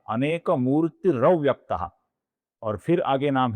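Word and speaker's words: अनेकमूर्तिरव्यक्तः: अनेक मूर्ति का जो विसर्ग है उसके आगे अव्यक्तः का अ आने के पश्चात वहां पे अपूर्ण र बनता है, जो आगे वाले अ में मिल जाता है, तो इसलिए इनका रूप बनता है अनेक मूर्ति रव्यक्तः।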